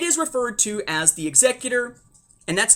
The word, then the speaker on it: Executor: That's not how you're supposed to pronounce it. It's Executor.